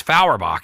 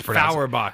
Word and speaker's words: Fauerbach: name it's fauerbach everyone always powerbox yeah yeah but it's